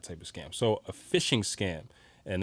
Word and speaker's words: phishing: So a phishing scam, and they spell it with a PH. So it's PH. PH sounds like not F.